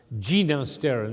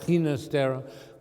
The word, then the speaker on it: Ginastera: him that way because he told me himself he wanted his name pronounced gina sterling not hinastera because his father was catalan his mother was italian and that's the way they pronounced it what it is is